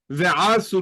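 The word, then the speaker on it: וְעָשׂוּ: So we have what's known as nasog achor, literally retreating backwards, and that is the accent is retreating from the last syllable to the second to last syllable. Hence, Ve-asu li mikdash.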